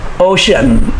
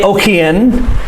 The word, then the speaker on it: ocean: ocean okay c-e-a makes the s-h-u sound shun so it sounds like o-s-h-u-n ocean is how we say it we do not say okien and we not say